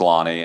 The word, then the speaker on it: Lonnie: yes okay you're 100 I have heard your name pronounced a million different ways and I've always been convinced it's Lonnie and so I just always go with it so it is 100 correct it's actually a German